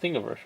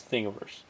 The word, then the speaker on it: Thingiverse: Hey, I said it right. It's called Thingiverse, right? Yeah. I think I've gone there once. Yeah, it's Thingiverse.